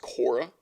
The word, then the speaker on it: Quora: see where you get I mean yeah I I saw someone on Quora I think it was uh it's pronounced Kora like the [